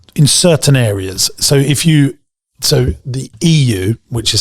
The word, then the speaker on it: Yiwu: So the EU, which is spelled YIWU, which is where our office is in China.